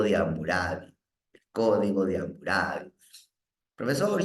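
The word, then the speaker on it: Hammurabi: amurabi el código de hamurabi profesor yo he escuchado que le dicen hamurabi así como una jotita también se puede jóvenes no se me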